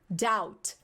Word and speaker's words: doubt: E pronúncia, não é doubt. A gente fala doubt, doubt, doubt, tá? Esse B não tem. Na hora de falar, na hora de escrever tem, tá?